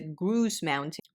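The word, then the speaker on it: Grouse Mountain: in this area and that would be the gru Mountain which is spelled g r o u s e and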